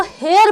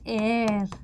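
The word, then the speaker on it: heir: हैं towards एयर अब बहुत सारे लोग होते हैं जो इसको हेयर प्रोनाउंस करते हैं हेयर ये होते हैं ठीक है एच ई आई आर को हम प्रोनाउंस करते हैं एयर आई बात समझ में ये एयर होता है हेयर नहीं होता है तो यहां पर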